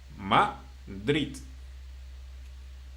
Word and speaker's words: Madrid: Okay, for example, Madrid, in which consonant it finished? D or D, right? So it means Madrid.